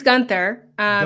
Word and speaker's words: Guenther: Is Gunther, or how do you pronounce your family name? It's Gunther. Just Gunther.